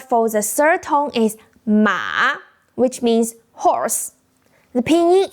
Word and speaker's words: 马: The pronunciation is start low, dip down, then rise up. Just like we did with where in English.